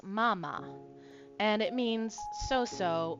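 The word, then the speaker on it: まあまあ: So what we have here is m a a m a. So it's not mama, it's mama.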